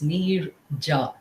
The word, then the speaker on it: Neerja: So, you have to specify that J is not silent. It's Neerja.